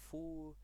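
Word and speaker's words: 福: The red are full. I forgot to put it in the report. It's fu, pronounced like they write a full at the door.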